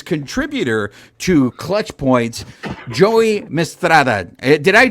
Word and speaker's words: Mistretta: joining us is contributor to clutch points Joey mistrada did I pronounce that correctly Joey that's correct yeah it's